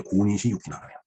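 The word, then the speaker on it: 小西行長: 근데 1군 사령관이 이제 고니시 유키나가네요. 예, 소서 행장입니다. 소, 작을 소자. 그걸 고라고 읽죠. 쇼라고도 뭐 읽을 것 같습니다.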